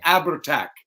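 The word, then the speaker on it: Abhartach: That's the Abertac. Yep. Isn't that pronounced the Abertac?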